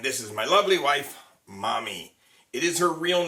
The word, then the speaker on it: Mami: For those of you who've been wondering, have I just been calling her Mommy as a nickname, M-O-M-M-Y? No, her name is M-A-M-I, which in Japan is pronounced Mommy, not Mamie or Mammy.